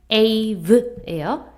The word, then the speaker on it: save: save예요. save. 단 이렇게 쓰면 A는 A라고 발음 안 되죠. 혼자 있을 땐 얘는 에라고 발음되잖아요. 이건 save잖아요. save가 되려면 뒤에 꼭 매지기를 써줘야 된다.